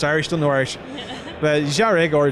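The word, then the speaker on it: Dearg: Diarg is how everyone thought it was pronounced. It's Irish for red. I informed them on Friday morning it's pronounced Jarig.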